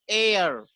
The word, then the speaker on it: heir: लेकिन HEIR ये हेयर नहीं, इसका प्रोनाउंसिएशन होता है एयर।